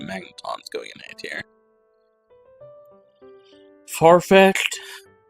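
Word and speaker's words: Farfetch'd: Farfetched or when I was a c a child called it Farfetch D. Uh, because I treated the apostrophe D as something different.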